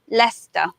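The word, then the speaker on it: Leicester: in English we have Lester Lester when we look at that word first what looks like a like a stir my sister my sister actually it's only two syllables and we simply say Lester there's a Lester North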